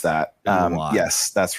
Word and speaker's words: Eloi: the Eloi, or I don't know how you pronounce that. Eloi.